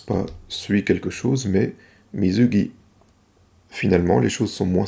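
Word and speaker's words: 水着: Manque de chance, le mot suivant ne se prononce pas quelque chose, mais mizugi.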